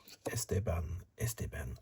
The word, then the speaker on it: Esteban: I like to say Esteban, more emphasis on the second syllable.